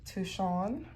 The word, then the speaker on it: Touchon: Carrot touchon.